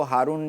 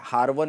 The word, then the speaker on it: ہارون: میں ہارون پہنچے۔ ہارون، یہ بعض لوگ اس کو ہارون جو ہے کہتے ہیں، لیکن یہ ہارون اس کا جو ہے صحیح تلفظ ہے۔ ہارون آپ پہنچے اور